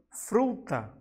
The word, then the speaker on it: fruta: Também temos a palavra fruta, né? Aqui, o fru é a sílaba de maior intensidade.